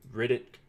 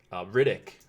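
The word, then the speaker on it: Rittich: for the Maple Leafs Riddick Riddick I believe is the correct pronunciation and then Freddie Anderson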